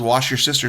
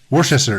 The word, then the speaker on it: Worcester: Like the guy that always uses wash your sister sauce. Yes. There's wash your sister sauce. Where's the shower sauce, I've heard. Worcester. It's not that hard to say.